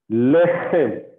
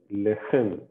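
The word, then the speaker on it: לחם: Lechem. Okay, lechem. Lechem. So don't miss out the guttural pronunciation.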